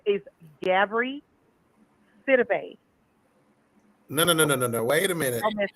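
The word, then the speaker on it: Gabourey: You know all those silent letters and whatnot. So yeah, Gabri Sidibe.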